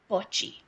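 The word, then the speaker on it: Botchwey: and her last name is spelled B O T C H W we E Y. But I listened to her say her name and I think she said butchie.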